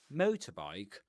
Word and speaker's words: motorbike: Motorbike. That you know basically it's like two nouns together, right? Motor and bike. So we stress the accent falls on the stressed syllable of the first item motor.